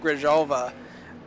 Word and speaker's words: Grijalva: grab your halva uh last time I pronounced that Grijalva he messaged me and he said thank you for for actually pronouncing my name right for once so I